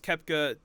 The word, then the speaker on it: Koepka: it's brooks koepka and i think it's kepca it's is it kepca yeah but it's spelled coca yes but it's kepca yeah he's from south africa i think brooks kepca drama have you seen